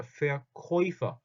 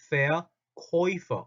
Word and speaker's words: Verkäufer: 자, 발음 주의합시다. 아, 오는 아우죠. 그런데 아 옴라트와 오가 만나면 오이가 있는데 오이 발음이 뭐가 되는 오이라고 오이. 그래서 Verkäufer입니다. Verkäufer. 다시 한번 Verkäufer. 오이입니다. 오이. Verkäufer.